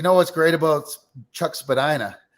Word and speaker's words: Spadina: I mean, you know what's great about Chuck Spadina? It rhymes with everyone's favorite word, vagina.